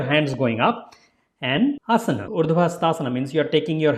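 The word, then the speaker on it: Urdhva Hastasana: Urdhvahastaasana means you are taking your hands up, going a little bit backward, and that name of asana is Urdhvahastaasana.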